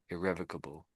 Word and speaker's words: irrevocable: Irrevocable.